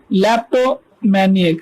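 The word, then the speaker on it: kleptomaniac: और ये के साइलेंट है तो ये हो जाएगा लेप्टोमैनियक। लेप्टोमैनियक, वन हु हैज द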